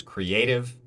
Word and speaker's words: creative: our only option is creative creative yay creative the a is our stressed vowel sound uh so that is